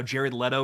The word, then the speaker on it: Jared Leto: of tied to that kind of like how jared leto is unfortunately tied to the worst version of